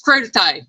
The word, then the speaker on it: crudité: Anita says it's crudité. Okay. Now, I've heard that. Okay. Anita said vegetables with dip, veggies. Okay, so yeah, I told you I can't pronounce these words. I'm not claiming to be nothing I'm not. So it is crudité.